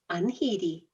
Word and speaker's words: unheedy: of anedi our word of the week it is spelled u n h e e e d y unheedy and it means Reckless headstrong and this word